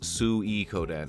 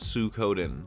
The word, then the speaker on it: Suikoden: guy behind suikoden and that's sue e kodan not sue koden you chuds try to tell me it's pronounced sukoden and watch me not believe you unless of course you speak japanese in which case i